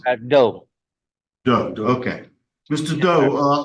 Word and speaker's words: Do: you sp say your last name how you pronounce it do do okay Mr do uh how old are